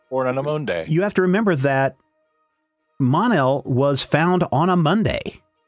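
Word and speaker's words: Mon-El: actual name is pronounced my issue with Monell is do you call it Mon day is that how you pronounce Monday salt because today or on a Monday you have to remember that Monell was found on a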